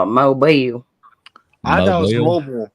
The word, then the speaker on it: Mobile: It's Mobile, Alabama. Mobile, Alabama. Mm-hmm. Okay. I was just confused because I thought that all the Alabamians, or however you want to say it, call it Mobile.